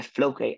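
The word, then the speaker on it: Floquet: is using something called flow K field. I'm almost certain that T is silent because this is French, but if someone knows better, feel free to correct me.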